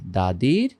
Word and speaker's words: the: কি এই যে এখানে দাদির সিবি দা হবে যদি কনসোনেন্ট এর পূর্বে বসে দি হবে যদি ভাউলের পূর্বে বসে তো আমরা একসাথে বানিয়ে